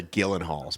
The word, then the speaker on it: Gyllenhaal: it's a soft g i'm pretty sure they're the gillen halls but go ahead believe